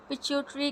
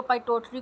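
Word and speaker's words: pituitary: इसको पाइटोटरी ग्लैंड भी बोलते हैं, इसको पिट्यूटरी बोलते हैं, आपको जो आसान लगे आप बोले, लेकिन इसका स्पेलिंग आपने ठीक लिखना है, पिट्यूटरी भी या पाइटोटरी भी, कुछ लोग बोलते हैं इसको। एनीवेज मैं तो इसको पिट्यूटरी ही बोलती हूँ।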